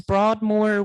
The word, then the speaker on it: Broadmoor: me if I'm saying it wrong, Kim, it's Broadmoor Women.